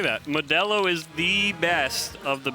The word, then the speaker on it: Modelo: It's pronounced Modelo.